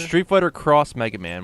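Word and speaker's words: Street Fighter X Mega Man: Street Fighter Cross Mega Man. When you see the X, it is pronounced cross.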